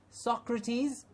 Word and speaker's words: Socrates: course there was there is the Greek philosopher Socrates Socrates it's a common noun so you can